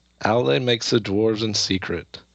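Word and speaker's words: Aulë: I think it's actually when I listen to it in German, they say they pronounce it like really like Aule, like really really strong.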